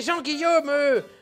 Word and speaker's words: Jean-Guillaume: C'est Jean-Guillaume! En quatre syllabes, c'est pourtant pas compliqué, Benzaï!